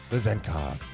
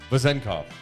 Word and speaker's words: Vezenkov: I just was watching his highlights, Vezenkov. and it's like if you really want to say it right, it's like Vezenkov.